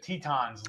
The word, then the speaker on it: Teton: Is it Teton or Teton? And he said Tetons, like the mountains.